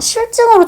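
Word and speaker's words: 싫증: 자, 실증이라고 하면은 이 실제 발음이 어떻게 되냐면요. 실증 이렇게 발음이 됩니다. 이게 발음한 대로 소리 나는 대로 적는다는 원칙이면 실증으로 적었을 거예요.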